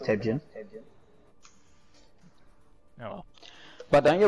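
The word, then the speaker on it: Torbjörn: Torbjorn 2. No, it's actually pronounced Tebjorn.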